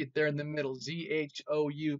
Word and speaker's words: Zhou: Z-H-O-U, pronounced Zhou. Not so much Zhou like the name, but Zhou.